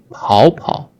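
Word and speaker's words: 跑跑: and this one because 跑 is the third tone originally, third tone, and it changed to the second tone when it is used in reduplication verb forms.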